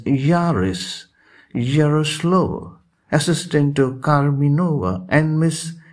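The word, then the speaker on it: Jauras: culture mr yaris yaroslav though it is spelled as j-a-u-r-a-s it is pronounced as yaris yaroslav assistanto karminova and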